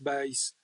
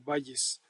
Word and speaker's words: Bayes: teorema de Valles, bueno, que debería de pronunciarse como B porque fue un matemático que nació en Inglaterra, se llama Thomas Bis, pero bueno, como tiene su lectura en español, muchas veces se pronuncia como Valles, que nos permite pues